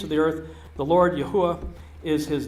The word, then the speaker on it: Yahweh: some people you know it's Yahweh or it's Jehovah or yahovah I've kind of gone through all of them in the course of my journey um looking at the various pronunciations of four consonants uh I've landed on Yahweh if you say Yahweh